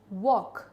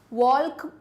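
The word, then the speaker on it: walk: इसमें क्या साइलेंट है? वॉक। यहां एल साइलेंट है। है ना? वॉल्क नहीं बोलते ना?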